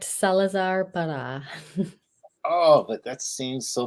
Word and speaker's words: Salazar Parra: and how do you pronounce that uh you pronounced it correct Salazar par oh but that seems so much better Salazar par the Magnificent Tada Tada yeah hey I like